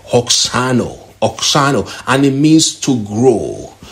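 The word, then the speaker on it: αὐξάνω: Now, the word grew in this text is from the Greek word that is pronounced oxano, and it means to grow, to become greater, to increase, like a multitude of people.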